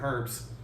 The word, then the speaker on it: herb: hated, like beans and herbs. Herbs, I should say. There's H is silent. I sometimes forget that.